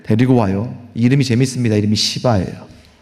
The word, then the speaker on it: 시바: 이름이 시바예요. 발음을 잘해야 될 것 같습니다.